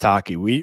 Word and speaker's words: Tacchi: It's pronounced Tacchi.